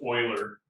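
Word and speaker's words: Euler: so his name was Oiler he was swiss but he was from the German speaking side of Switzerland so the Germans pronounced EU as oi as in like you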